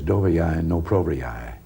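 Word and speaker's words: Доверяй, но проверяй: If I'm pronouncing it correctly, it is dovyai no provyai.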